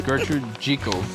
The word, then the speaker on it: Gertrude Jekyll: Gertrude Jekyll, I keep saying that wrong after I learned exactly how to say it. I can say it like that. So it's Gertrude Jekyll. It feels weird for me to say it like that, but I know that's the correct way.